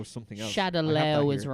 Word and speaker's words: Shadaloo: I fucking hate that they mispronounce so much in this film. Shadaloo? Shadow. What the it's fuck Shadowlaw. is Shadaloo? Shadowlaw. I thought it was Is it? Shadaloo. Shadowloo. Well, it was originally Shadowlaw.